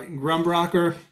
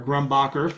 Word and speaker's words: Grumbacher: with some other charcoal this is just uh grumbrocker or grumbacher sorry i always mispronounce that extra soft vine charcoal here some